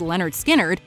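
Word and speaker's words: Lynyrd Skynyrd: scene it's because of this cut off pronounced leonard skynyrd that the band first became household names across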